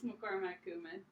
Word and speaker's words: McCormack: McCormack.